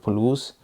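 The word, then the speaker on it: Puluz: So speaking about the cage, this cage is from the company called Palouse. It's spelled basically as P-U-L-U-Z, and it's on Amazon.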